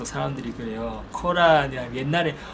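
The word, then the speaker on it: قرآن: 이것도 사실 영어권 발음에서 온 거예요. 영어에서 이제 뭐 코란, 쿠란 이렇게 하는데요. 사실 아랍어로는 꼬르안이에요. 꼬르안.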